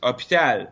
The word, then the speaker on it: hôpital: No, it's a French thing because we don't pronounce the H in French. So we just skip it. Even like hospital in English, you pronounce the H, right? Of course. And in French, it's hôpital, but the H is there, but we skip it.